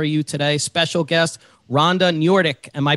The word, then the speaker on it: Noordyk: special treat for you today special guest rhonda njordik am i pronouncing that correctly yes okay excellent ceo and